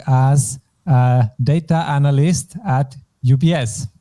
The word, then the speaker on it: UBS: so this actually uh we pronounce it with German letters it's a bit a memorization games which abbreviations you have to pronounce English and which German and this one is UBS UBS yes by the way